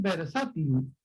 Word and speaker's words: versátil: ahora la verdad es versátil no es la de sátira versátil es grave para tanto por lo